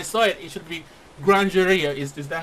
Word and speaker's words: Grandury: the way I saw it it should be grandera is is that how you pronounce it yeah yeah it's it's it's as